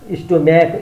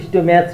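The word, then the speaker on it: stomach: स्टोम्याक स्टोम्याच हुँदैन स्टोम्याक हुन्छ, मोनार्च हुँदैन मोनार्क मोनार्क हुन्छ, इपो इपोच हुँदैन इपोक हुन्छ।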